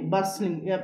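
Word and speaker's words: bustling: టు ద బస్లింగ్ చూడండి బస్లింగ్ బి యు ఎస్ టి ఎల్ ఐ ఎన్ జి ఎప్పుడైనా ఎస్ టి ఎల్ వస్తుందండి ఏదైనా ఒక ఇంగ్లీష్ పదం చెప్పడం ఎస్ టి ఎల్ వస్తే T silent H యు ఎస్ టి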